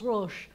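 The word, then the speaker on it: ראש: Resh, silent aleph, and the shin is Rosh, like Rosh Hashanah.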